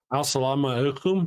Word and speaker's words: Assalamu alaikum: Assalamu alaikum.